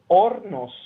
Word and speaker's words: Hornos: that far away just just things the word ornos the H is science yes I I know